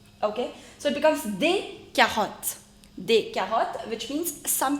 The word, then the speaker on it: carottes: The only difference is that in French you do not pronounce the last consonant, so you will not pronounce it as carottes. Okay. It has to be carotte. Carotte.